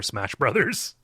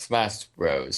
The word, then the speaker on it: Smash Bros: adult and also I've never played a player smash BRS also it's pronounced Smash Bros so yeah God damn it I'm so [